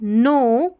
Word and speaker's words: know: You do not need to know, KN में K silent है, know every word before you start reading.